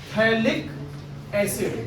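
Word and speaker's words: phthalic acid: इसका नाम है थैलिक एसिड। क्या नाम है? ठीक है, जिसमें पीएच साइलेंट है, थैलिक एसिड। इसे थैलिक एसिड नहीं कहोगे, पीएच को फ बोलने लग जाओ।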